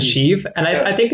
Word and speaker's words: Sheev: sh the first time I've always heard it pronounced as sheeve and I I think